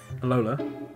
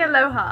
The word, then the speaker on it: Alola: Alola? No, that is not how you say it. It's definitely Aloha.